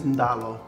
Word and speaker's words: dalo: In Fijian, it's ndalo.